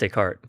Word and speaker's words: Decart: Well, it's it was just pronounced Decart.